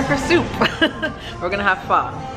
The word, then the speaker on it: pho: We're gonna have pho. That's how it's actually pronounced, not pho.